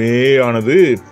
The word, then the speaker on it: May: ஆனால் இங்கிலீஷில் நாம் ஏற்கனவே சொன்ன மாதிரி இந்த ஏ சவுண்டானது நெடியில் வராது, ஏக்கப்புறமா ஐன்னு தான் சொல்லுவாங்க. அப்போது இந்த மேயானது மெய் மெய் இந்த மாதிரி தான் ப்ரொனவுன்ஸ் பண்ண வேண்டியிருக்கும்.